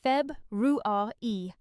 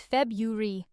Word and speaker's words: February: Many learners try to say every syllable clearly, pronouncing it as Feb-ru-ar-e. But in British English, we usually simplify this word, dropping the first R sound. The most common pronunciation is February.